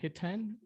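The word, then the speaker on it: Hiten: uh first name uh hitan h-i-t-e-n h i t e n like high ten thank you last name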